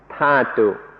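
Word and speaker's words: dhātu: In English, it's usually spelled dhatu, and so I sometimes say dhatu. In Thai, it's pronounced thatu, so that's why I mix these up.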